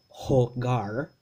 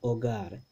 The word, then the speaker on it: hogar: there remember that h the letter h in spanish doesn't have a sound so this this aceh this ha right we we would like to say this ho gar right in english we